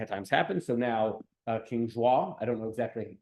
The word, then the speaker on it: João: things in Portuguese, but I asked Linda, who actually does speak Portuguese, and she said João. Or I don't know, I couldn't exact some like one syllable with a J in there and something.